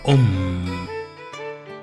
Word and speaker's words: Aum: El mantra más antiguo y bastante conocido es el famoso Om, que realmente se escribe Aum, pero se pronuncia Om, y encierra toda la creación del universo y la vida en sí.